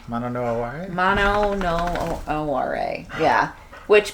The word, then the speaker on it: mono no aware: Mono no aware?